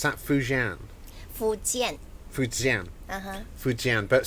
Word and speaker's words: Fujian: Would I pronounce that Fujian? Fujian. Fujian. Fujian, but spelled F-U-J, isn't it? Cantonese should be Fokin.